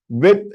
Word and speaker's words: व: You pronounce it as V. You have to press this with your upper teeth.